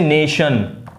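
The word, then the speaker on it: nation: जैसे TION, TION जैसे नेशन, आप देखें नेशन की स्पेलिंग में ने और शन, ये शन का साउंड निकलता है।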